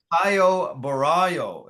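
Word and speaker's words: Caio Borralho: and uh yeah against a very tough Brazilian Kyo Baro is how you say his name yeah okay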